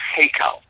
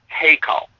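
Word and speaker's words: היכל: it's actually it's an Aramaic word and it's pronounced heo heo and and h y k a l h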